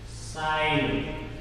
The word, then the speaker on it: sign: Sign. G is silent.